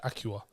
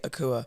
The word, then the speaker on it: Akua: said your name yeah I said Acura and like that how did conversation about my name all all hell broke loose because apparently I said it wrong yeah so how do you pronounce your name however you can also say akua depending on which tribes to be a long